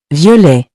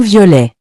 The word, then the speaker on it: violet: The next color is violet, meaning purple. We also don't pronounce the final T in this word. For example, un ballon violet means a purple balloon.